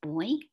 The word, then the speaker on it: buoy: you know the word bowie i i learned that in in great britain it's pronounced boy maybe some of you